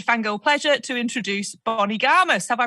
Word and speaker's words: Garmus: my absolute over-excited fangirl pleasure to introduce bonnie gamers have i pronounced your surname writing comment to check just